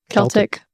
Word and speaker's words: Celtic: People, is it Celtic or Celtic? Celtic. Celtic. Okay, I said it right.